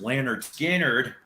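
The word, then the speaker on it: Lynyrd Skynyrd: biggins skinner ladies and gentlemen the first album pronounced leonard skinnard now your original press and unfortunately i do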